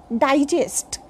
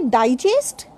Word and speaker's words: digest: For example, if a word is noun or adjective, then it is pronounced in a very different manner. But the same word has been used as a verb, then that particular word has very different pronunciation.